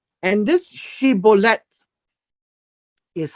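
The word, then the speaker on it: shibboleth: is uh it's uh she bullet and this she bullet is how the people from Gilead would say it's a she bullet and that would be the emphasis of the sh but if this person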